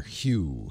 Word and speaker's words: Hue: H-U-E, like the color, Hue.